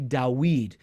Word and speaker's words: David: And so the name David, David, was actually Dawid, which is much like the Arabic. The Arabic has retained that the w sound that Hebrew eventually lost,